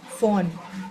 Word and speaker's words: von: One, meinem, On, it's not von. V in German is fa, von.